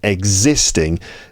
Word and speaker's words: existing: Exiting, the first syllable is stressed, exit, and existing, the second syllable is stressed there.